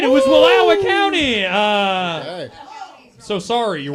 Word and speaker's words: Wallowa: years now and I still can't do Oregon pronunciations of stuff. So I was gonna say Wallowa County. Oh, sorry, yeah. Walta Wallowa.